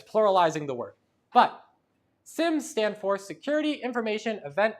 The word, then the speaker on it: SIMs: They're called sims. I pronounced them as seams, but I was corrected. Uh, they're SIMs. SIM EM.